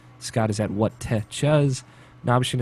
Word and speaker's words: Nabeshin: Nabshin is at NABESHIN 186. And that's Nabshin 186. The fuck? That's how it's spelled. Like, that's why I spell it out. And if people are curious, because Nabashin doesn't sound like Nabshin, which is how it's spelled, I should just say.